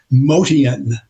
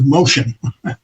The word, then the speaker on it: Motian: We used to pronounce his name in his native uh heritage. Motian. That's how you we said his name back then, but through the years it got changed to motion.